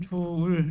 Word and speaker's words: 줄: 줄 또는 줄 이렇게 길게 발음하면 됩니다.